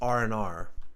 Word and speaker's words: R and R: You'll actually hear this pronounced as R and R.